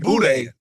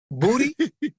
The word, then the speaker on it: boudin: But that doesn't mean it almost looked like boudin. Booty? Boudin. Oh, okay. I'm just making sure. Okay. You got to pronounce that out.